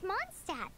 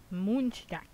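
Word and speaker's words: Mondstadt: here we'll eventually reach monstat the city of freedom apparently it's it's supposed to be pronounced moonshot or something along the lines of because it's supposed to be german oh well monstat is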